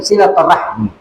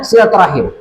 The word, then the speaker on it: silaturahim: Apakah silaturahmi atau silaturahim Tapi aslinya silaturahim ini ejaan yang benar sesuai dengan bahasa Arabnya ya dan yang seperti